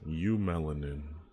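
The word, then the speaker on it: eumelanin: because you were right it is pronounced you melanin but i don't know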